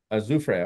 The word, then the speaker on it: Azufre: How do you say that last wash you said? Azufre? Azufre. Okay, I'm pretty close.